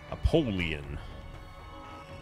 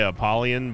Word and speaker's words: Apollyon: Apollyon. However Matthias says it. I still say Apollyon, but I guess, like, phonetically speaking, like a pole, like a APOLL would be a poll, so sure.